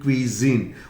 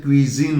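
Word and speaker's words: cuisine: What is your favourite क्वीजीन, और इसका pronunciation क्वीजीन होगा, नॉट क्वीजिन, क्वीजीन, क्वीजीन, क्वीजीन, ठीक है।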